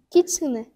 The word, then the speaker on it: kitsune: Alors retiens bien kitsune. Kitsune. Kitsune, très bien, bonne prononciation.